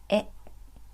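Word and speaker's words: へ: by the particle e which is a hiragana but pronounced as e this indicates the direction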